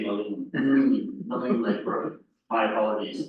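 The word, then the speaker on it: Maligne: Following on that, we have some updates from our partners at Parks, the Malign Lake Road. Did I pronounce that correctly this time? Typically, we would say Malin.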